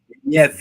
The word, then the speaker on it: Nieve: Nieve is how they were saying it, which I guess means snow in some other language.